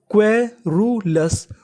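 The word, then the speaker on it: querulous: लिखा मिले तो हमें क्यू यू ई को पढ़ना है क्वे। क्या पढ़ना है? क्वे तो मीनिंग बनी इतनी क्वे आर यू रु इसे क्या पढ़ेंगे? रू तो मीनिंग बनी क्वेरू एल ओ यू एस ओ यू एस को पढ़ना है अस और उससे पहले एल है तो मीनिंग क्या बनी? लस तो पूरी मीनिंग क्वेरूलस।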